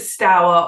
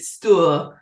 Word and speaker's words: Stour: even before then and is it stower or is it still people up and down the river will debate with you and the pronunciation of the river's name is a matter of where you live and how long you've lived there perhaps 200 300 years ago it would have been certainly still which is a Saxon